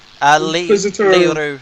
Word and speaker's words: Leroux: It's Leroux. a French name. It's L-E new word R-O-U-X. X is silent. Leroux.